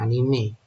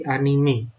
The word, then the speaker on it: anime: benar aja terus ini dibacanya bukan Anim tapi anime ya karena dengan ejaan Jepang anime bukan Anim anime ya Nah ini